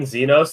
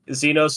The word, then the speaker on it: Zenos: Sometimes when I was searching Final Fantasy 14 Xenos, the first thing that got recommended is Xenos Juicy.